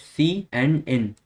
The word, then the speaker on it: cin: It is Cout and Syn. Syn is pronounced as c and n.